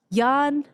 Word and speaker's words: Johan: So on our panel today, we have Yan. Yan. Yan. Did I say it correctly? Yan.